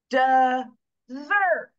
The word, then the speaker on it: dessert: So watch me punch the stress syllable here. So I'm going to kind of pull my screen down here. I'm going to retract the unaccented syllable. Dessert.